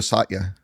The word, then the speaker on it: Satya: Pronounce it for me. I It's Studio Satya.